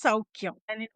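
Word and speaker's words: Soukhya: So, that's why it's Souky.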